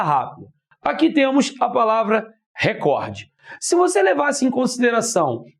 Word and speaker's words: recorde: E se você voltar de recordista, você vai cair no cor, indicando que é a sílaba mais forte.